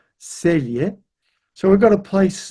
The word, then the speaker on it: Celje: So here we have a Slavic language where the C's are pronounced T-S, Celje.